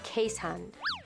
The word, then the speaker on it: Keeshond: it looks like he town but the proper pronunciation is K hun affectionate friendly and so famous for clinging to